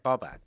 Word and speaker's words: Babak: my so my name is like Babak. Yes. So my dad will call me. Oh, so just even throwing it's in Babak. another. Yeah, It's- but I have always just gone with Babak. I hear you. So it's okay. yeah. -B-A-K. Pronunciation-wise. Babak.